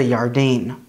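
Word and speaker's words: ירדן: jericho is and the jordan river is the yardain when it comes to names we have jacob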